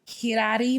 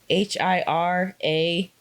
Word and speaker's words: Hirai: Hirari Momo. Hirai. That's the romanization of it.